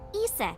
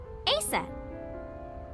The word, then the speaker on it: Isis: Horse's mom is named Isis, but in ancient Egyptian, it's pronounced closer to Isa or Asa.